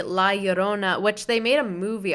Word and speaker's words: La Llorona: and different like like lyurona yeah oh my god i say that wrong no that's not it that's how it's spelled oh my god i can't speak la llorona so a lot of people see la yorona which they made a